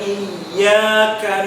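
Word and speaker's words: إِيَّاكَ: Huruf ya di awal dengan tasydid. Biasanya ada yang membacanya kurang memunculkan tasydidnya. Jadinya iyyaka. Itu kurang tepat. Karena seolah-olah justru memberikan mat atau tanda panjang pada huruf alif di depan. Yang benar harus ditegaskan, ditekan. Iyyaka na'budu.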